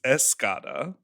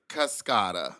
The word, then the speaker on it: Cascada: Well, it's I think her name is Escada. It's Cascada. Cascade. It's spelled like cascade and sing her song cuz it's also about on the dance floor.